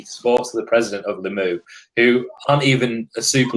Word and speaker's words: Limoux: So we were talking off air about how do you pronounce the club in France? Limoux? Limux? Limux. We're not too sure. Limoux, I think.